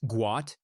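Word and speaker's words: Guot: Born Got pronounced Guat, his name was mistakenly changed to Gout due to an Arabic translation error when his family relocated from Sudan to Australia.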